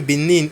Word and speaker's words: Benin: So weda is a city in south certain benin in west Africa.